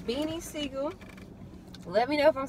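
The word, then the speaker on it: Beanie Sigel: And it's Beanie Siegel.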